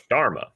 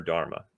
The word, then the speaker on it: dharma: goes with it and luckily it rhymes because it's dharma so dharma is your